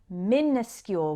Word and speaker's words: minuscule: very very small now it sounds like minuscule when we pronounce it so you might think it starts with m i n i because we do use